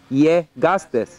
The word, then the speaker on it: llegaste: The double L is pronounced like a yeah, like yeah. Llegaste.